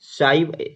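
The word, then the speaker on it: ψ: उसके बाद इसको साई पढ़ते हैं, ठीक है, साई, पी साइलेंट हो जाएगा, साई पढ़ते हैं।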